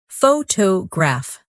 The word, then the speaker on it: photograph: In English, some words are pronounced with extra emphasis on one part. For example, photograph, photographer, and photographic. The stress moves, and that changes the sound.